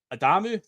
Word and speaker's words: Adamu: So Junior Adamu that's how we're pronouncing it. Yeah not not Adamu it's Adamu.